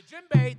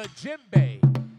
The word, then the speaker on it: djembe: The djembe, the D is silent. Starts with a D. This is called the djembe.